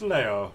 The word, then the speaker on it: Leo: It's written in the kanji for lion, to be sure, but it's pronounced Leo.